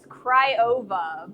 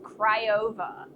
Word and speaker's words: Craiova: Craiova, but probably butcher it as badly.